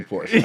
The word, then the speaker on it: Porsche: owner, you say Porsche. That's the first page of the manual. That's like the pronunciation.